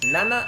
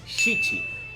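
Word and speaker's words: 七: De la mateixa manera que hem dit amb el 4, el número 7 en japonès també té dues pronunciacions. Una és Nana i l'altra és Shichi.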